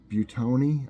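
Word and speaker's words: Buitoni: Halls a while back butone I think is how it's pronounced Bui t-o-n-i I think and it's sitting it's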